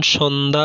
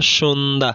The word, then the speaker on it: সন্ধ্যা: খ, পদের মধ্যে কিংবা অন্তে যুক্ত ব্যঞ্জনবর্ণের সঙ্গে জফলা যুক্ত হলে সাধারণত তার কোনো উচ্চারণ হয় না, যেমন সন্ধ্যা, সন্ধ্যা, স্বাস্থ্য, স্বাস্থ্য, কণ্ঠ, কণ্ঠ ইত্যাদি।